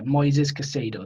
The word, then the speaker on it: Moises Caicedo: about this kid noises or i think yeah moises casado that's how it's pronounced so i click on the profile i'm